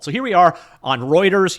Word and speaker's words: Reuters: here we are on Reuters yes not Rutters I'm saying it right this time on Reuters news and